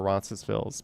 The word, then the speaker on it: Roncesvalles: There's many debates over Roncesvalles. People in Roncesvalles, some will say the S, some won't say the S.